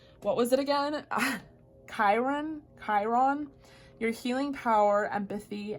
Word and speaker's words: Chiron: to say this what was it again ah Chiron Chiron your healing power empathy and ability to